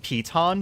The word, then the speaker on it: piton: Apparently, they're pronounced peton, by the way, which means that I will never say it correctly because that.